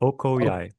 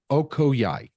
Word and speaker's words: Okoyai: O- Okoyai. Okoyai. Yeah, it's Oko. comes Yeah, it's from exactly how it's Oko, spelled. which is yeah, exactly how it's spelled. So Oko is um jaguar or Oko is water, and then Yai is jaguar in the Siona language.